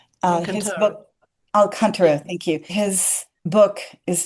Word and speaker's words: Alcantara: And for us in Alexander technique, I'm thinking of, oh gosh, I'm not sure I'm going to pronounce his name right, Pedro, uh, Dela Canto? Uh, his book Alcantara, thank you.